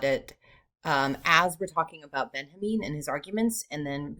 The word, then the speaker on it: Benjamin: And today we're going to be talking about Walter Benjamin. It looks like Benjamin, but he pronounced it Benjamin.